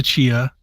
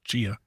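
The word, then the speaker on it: Tchia: I don't know why I always call it titia because there's a giant T in front of it but I think it's pronounced Chia and I'm still enjoying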